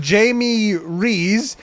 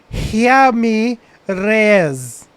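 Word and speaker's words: Jaime Reyes: called blue beetle's name jamie reese it's actually pronounced here me reyes reyes okay because he is uh i think he's mexican spanish somehow i don't know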